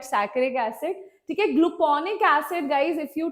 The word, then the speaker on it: saccharic acid: Some call it saturic acid. Don't just don't go with the pronunciation, right? I call it saccharic acid.